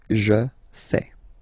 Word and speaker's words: fais: Remember, final S not pronounced. Je fais.